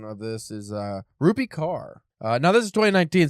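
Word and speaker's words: Kaur: But as of 2019, Ruby Carr had 3.8 million followers. It doesn't say where. I'm assuming Instagram because it's Insta poet. So Carr, pronounced core immediately wrong.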